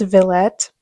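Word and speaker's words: Villette: then I also have I think this is pronounced Vette by Charlotte Bronte I've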